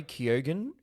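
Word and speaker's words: Keoghan: for Causeway Judd Hirsch for the fablemans Barry Keogan is apparently how we're pronouncing that the Banshees of initial and kihi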